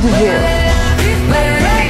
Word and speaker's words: de Vil: Cruella de Vil. Spelled devil, but it's pronounced de Vil.